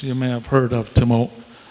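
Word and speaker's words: Te-Moak: You may have heard of Timok. Timok is the way it's pronounced, and it means rope, Timok. And over time, the English translation is a good example. It's spelled T-E with a hyphen, M-O-A-K, Timok.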